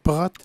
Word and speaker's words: Prot: Tu vois, j'ai pas osé dire Prot. Ouais, c'est ça. Alors, je vais l'appeler Mme Brigitte Prot. On va regarder le T muet.